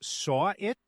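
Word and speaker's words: Sahwit: I think his name is pronounced Saw It, like he saw the murder.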